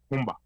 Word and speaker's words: Rumba: The Spanish version is Rumba. But then, let me ask, why do Congolese call it Rumba? Sasa hiyo hapo tutaenda that's the R in French, Rumba.